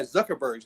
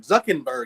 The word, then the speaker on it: Zuckerberg: And for him to hold up 9,000 books, and not even pronounce the guy Zuckerberg's name, Zuckenberg, he calls him every time.